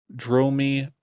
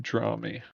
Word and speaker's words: Dromi: Kel says, Dromi, not draw me.